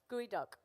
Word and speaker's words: geoduck: duck or gooey duct gooey duck spelled like geoduck yeah exactly okay yeah